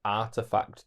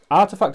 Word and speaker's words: RTFKT: You wouldn't see it as Artifact. I was really confused when people referred to it as Artifact. Yeah, that's it, innit? Yeah. It was RTFKT.